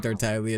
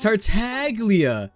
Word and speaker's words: Tartaglia: following proper Italian pronunciation. Despite that, they spent years saying Tartaglia, not in Italian. Yeah, it's Tartaglia.